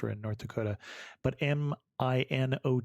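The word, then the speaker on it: Minot: in North Dakota but m i n o t may not may not okay see I would pronounce it the French and that would be not at all not at all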